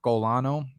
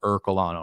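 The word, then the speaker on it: Ercolano: sometimes so it's like anyone who's a normal human would pronounce it like you are the letter u the letter r colano er colano right or maybe that's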